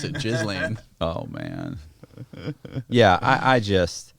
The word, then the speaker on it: Ghislaine: That's how you actually pronounce it, Ghislaine.